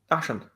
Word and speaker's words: Dachshund: There's no O in it. It's not hound.